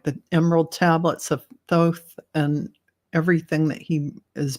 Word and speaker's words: Thoth: So Christine, I know it's pronounced so many different ways, but I'm going to pronounce it Thoth. Some people pronounce it Thoth. Some people pronounce it Thoth. And some people pronounce it Toth. So, but I pronounce it Thoth.